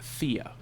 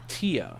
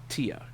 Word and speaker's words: Thea: so as an american we see your name at least i see your name and think thea but you pronounce it tia so the just for the record the correct pronunciation would be tia yes that's my fault